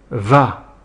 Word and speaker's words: vas: En aucun, tu vas attention au s à la fin qui est muet et qui ne se prononce pas.